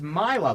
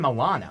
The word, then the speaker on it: Milo: You said his name wrong. It's Milo. That's his last name. No, it says Sebastian Milo. That's what I said. I thought you said Milano. No, I said Milo.